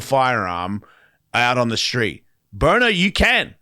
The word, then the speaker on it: Byrna: Burner. It's spelled Byrna.